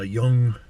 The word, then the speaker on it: Jung: we just talked a little bit about uh young and young is spelled j-u-n-g all right carl gustav jung